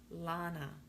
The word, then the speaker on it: Lana: a loving way right so many people will mispronounce my name i've been called lana laina lana but it's lana it's l-a-n-a hi hud